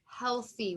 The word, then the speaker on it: healthy: We know this vowel team, EA can say E or it can say eh. So this says eh, L-E, healthy. Okay, so that Y is making the E sound because it's a two-syllable word.